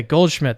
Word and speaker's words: Goldschmidt: Is that the correct way to pronounce your name? That's correct. Okay, Goldschmidt.